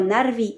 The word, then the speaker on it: Narvi: dans Beor ou Roak, rouler le R, comme dans Narvi ou Esgaroth, prononcer le U en